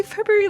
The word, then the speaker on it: February: But there's a fucking R in there, dude. The way that you say February literally is like February.